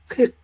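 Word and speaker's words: kick: যেমন খান, খান, ওই ধাক্কা থাকতে হবে, যেমন খান তাহলে কে আই সি কে কি উচ্চারণ হবে মাঝারুল? খিক আবার ওই শেষেও ধাক্কা লাগতে হবে, খিক, বলেন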